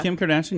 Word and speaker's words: Kim Kardashian: Yeah, Kim Kardashian, yeah.